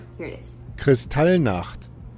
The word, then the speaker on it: Kristallnacht: So I found it pronunciated, so I would get it right. Here it is. Kristallnacht. Kristallnacht.